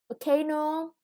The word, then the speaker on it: volcano: Volcano, the stress is on the second syllable.